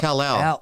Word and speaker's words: Cal-El: I said Cali Reptile. What is it? Oh, no, it's not it's Cali Reptile. Cal-El Reptiles. It's Cal-El. Oh, I didn't see the L.